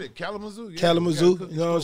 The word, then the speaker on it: Kalamazoo: say it right yeah kelly you said it kalamazoo kalamazoo you know what i'm saying congratulations uh